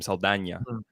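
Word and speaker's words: Saldaña: Zoe Saldana, for example. That's how you pronounce her name, Saldana.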